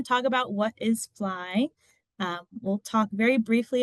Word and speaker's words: FLI: So Fly which is pronounced as Fly acronym for firstgen and or lowincome students.